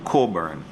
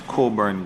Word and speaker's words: Cockburn: junior high school and i have a feeling that the pronunciation may be coburn so it's coburn gardens primary and junior